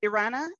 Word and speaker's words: Erana: Is it Erana? Is that how you pronounce Erana, it? Erana, yeah.